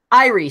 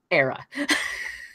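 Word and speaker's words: Éire: pronounce the name, because we've all been calling it Irie Stout. Apparently, it's Era.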